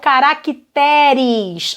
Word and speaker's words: caracteres: Caráter, plural, caracteres. A sílaba forte agora é o T.